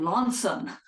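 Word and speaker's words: Launceston: little boy um born in a place called Lanson which if you look at how it's spelled it's Lester but but he told us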